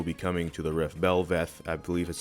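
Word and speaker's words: Bel'Veth: Belveth, I believe is how you pronounce that, by June 9th.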